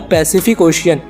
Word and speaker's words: Pacific Ocean: काम करिए, एक बार पैसिफिक ओशियन ये पूरा वर्ड बोलिए लेकिन थोड़ा धीरे, और जहाँ पर सी लेटर आ रहा है वहाँ पर नोटिस करिए। पहला सी स की तरह प्रोनाउंस हो रहा है, दूसरा सी क की